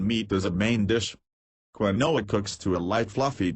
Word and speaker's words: quinoa: Quinoa, pronounced quinoa.